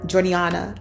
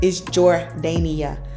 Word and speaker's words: Jordania: It's not Jordania, it's not Jordaniana, it ain't none of that. It's Jordania.